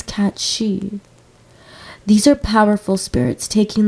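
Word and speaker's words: cat sìth: as a Sith cat but I think the original Scottish or Irish pronunciation is cat she these are powerful Spirits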